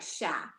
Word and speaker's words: cher: We're going to say it like chat, but it's cher, which is French for deer.